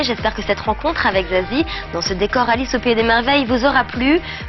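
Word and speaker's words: Za7ie: Alors Zazie, ce 7e album, alors déjà comment ça se prononce? Est-ce que c'est Zazati, Zazie 7? Il y a plusieurs versions. Ça se prononce pas, ça s'écoute, j'ai envie de dire, mais c'est Zazie.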